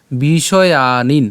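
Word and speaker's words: বিষয়ান্: এরপর বিষয়ানিন আমরা কি করলাম?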